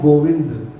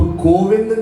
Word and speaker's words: गोविंद: तो गोविंद नाम जब बोला जाता है, गोविंद, तो जब व अक्षर का हम उच्चारण करते हैं तो जो हमारी जुबान है वो हमारे दांतों से टच होती है।